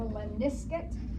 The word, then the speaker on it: lemniscate: That's called a lemniscate. But if you mispronounce it, you could say lemniscate figure 8.